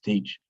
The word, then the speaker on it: Teach: It's pronounced Teach, spelled probably T-H-A-C-H-E.